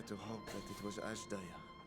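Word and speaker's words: Azdaja: I dare to hope that it was Ashdaya. Ashdaya. That's how you say it.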